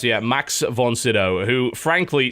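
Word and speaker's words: Max von Sydow: can dream oh yes yeah that's how you pronounce yeah max von siddow who frankly sounds like a sith lord in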